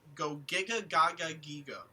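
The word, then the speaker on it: Gogiga Gagagigo: It is pronounced Go Giga Gaga Gigo.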